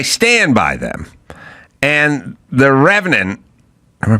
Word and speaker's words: Revenant: And The Revenant, am I pronouncing that right? Yeah. The Revenant, it was very clear in that movie, and they do this a lot weirdly.